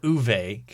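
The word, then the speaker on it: Uwe: I think it' be Uve. I think you're right. Generally pronounced V sound.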